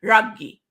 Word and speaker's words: Raghee: It's actually, my mom pronounces it Raghee, right? So Indian lips.